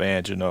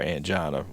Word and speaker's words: angina: So when we say that, what we're looking at is, well, at least when you make that comment of angina or angina, everybody pronounces it differently, that is considered some type of occlusion of a vessel supplying that area of the heart.